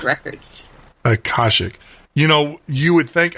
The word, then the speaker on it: Akashic: She's a lifelong interest in the Akashic, I hope I said that right, records, resulting